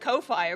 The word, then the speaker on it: Ko-fi: just a weirdo no I've heard it's actually pronounced Kofi apparently like the creators have said that's how